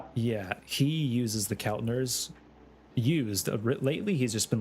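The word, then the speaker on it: Keltner: What's the correct uh pronunciation? Kel Kelner.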